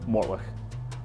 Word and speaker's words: Mortlach: And in front of me is probably, and is, well, is my most favorite brand, and it's pronounced Mortlach.